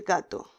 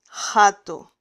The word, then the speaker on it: gato: Gato, porque la G con la A decimos ga. Esta palabra con J la pronunciaríamos jato, jato, jato, pero no decimos jato.